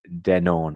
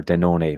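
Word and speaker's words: Danone: uni without talking about Denon or Denon whichever whichever way you want to pronounce it similar to un lever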